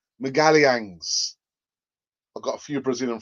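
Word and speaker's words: Magalhães: you pronounce his name that's how you say his surname megalians i've got a few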